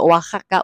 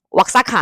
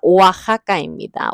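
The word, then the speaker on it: Oaxaca: 이거 오아하거든요. 오아하까. 우리 멕시코 관련된 건 전부 다 액기스를 호따로 발음하기로 했잖아요. 왁사카 아닙니다. 오아하입니다.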